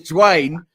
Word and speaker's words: Duane: It's not Daune, it's Duane. You could have just put a W in there for me because I'm in the UK.